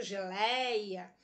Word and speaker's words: geleia: por um prometeu geleia eu pronuncio geleia eu abro para falar paroxítona vai acento não